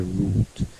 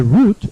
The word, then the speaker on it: route: to make a shorter route you can say route or you can pronounce route British pronounce route and Americans pronounce route our thing in this